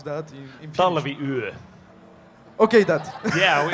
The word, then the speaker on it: Talviyö: So, my question is, the winter night, I don't know how to pronounce that in Finnish. Talviyö.